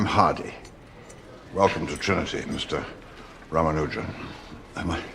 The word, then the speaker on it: Ramanujan: Ramanujan. Am I pronouncing that properly?